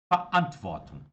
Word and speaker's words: Verantwortung: Verantwortung. Verantwortung. Verantwortung. Esse V-E-R, pessoal, ele tem uma pronúncia como se fosse mais ou menos um fa, né?